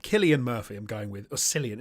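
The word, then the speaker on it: Cillian: to say his name Killian Murphy I'm going with orillian is it Killian oril I think it's kilan I think I think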